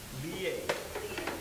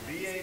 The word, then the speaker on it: liye: Liye. Liye Liya means to be absorbed in thinking. How do you spell that? L-I, long I, Y-E. Liye.